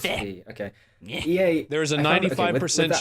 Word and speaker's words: Fe: So then we saw Fe, don't know how to pronounce. It's Fe. Is it Fair? Fe. Okay, it's Fe.